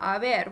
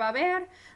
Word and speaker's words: haber: Notice that that H, remember, is silent. So we've got our verb haber.